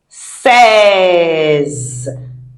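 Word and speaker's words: six: Says says, says it is says, not sees because e are in French sounds. A.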